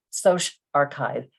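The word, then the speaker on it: SocArXiv: the other three and you pronounce them as bio archive psych archive social archive as you can see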